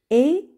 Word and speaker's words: est: et me qui miro et miki miro et me qui deux amis voilà deux amis alors ici nous avons eu est et on le prononce et est d'accord et et c'est le